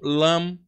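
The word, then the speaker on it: लं: para caracteres latinos equivalentes vai dar uma pronúncia como lam lam lam então yog vibrava o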